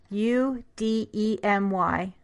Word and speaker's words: Udemy: I don't know if that's how you pronounce it, but it's Udemy, like university/academy, something like that.